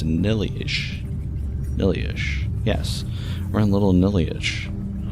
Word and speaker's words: Nihliesh: Inside, am I pronouncing that right? Maybe it's Nihliesh. Nihliesh, yes.